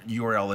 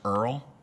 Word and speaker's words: URL: And by the way, it's not really pronounced URL, it's Earl. It's Earl. And it's spelled actually E-A-R-L.